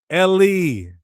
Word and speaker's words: Eli: So how do you say my god in Hebrew? Ellie. How do we know that? Oh, because he they said that's what it meant when he said Ellie.